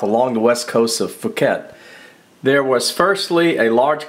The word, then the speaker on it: Phuket: Of course, this is how you pronounce it, so I don't want to pronounce it wrong. Phuket.